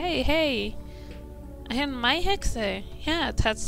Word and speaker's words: Mai Hexe: And I never even said my name out loud or say, hey, I am my Hexe. Yeah, that's how my name is pronounced, my Hexe.